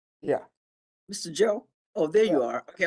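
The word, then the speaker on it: Zhou: Uh it's Joe. Oh, can you spell it?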